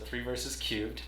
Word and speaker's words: Three Verses³: So 3 Verses Cubed, that currently holds a spot on Steam that everyone watching this should add to their wish list.